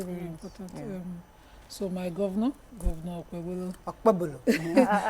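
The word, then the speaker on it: Okpebholo: I'm wondering why people call it Bolo, because there's a H, there's an H after it, and that H silences the, it makes it a bit. So what's the correct? How do you say? It's Okpebolo.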